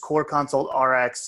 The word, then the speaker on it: CorConsultRx: itunes um and so you can it's just core console rx and it's spelled cor console one word so it's written